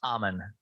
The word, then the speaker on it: Ammann: Yeah, it's Ammann.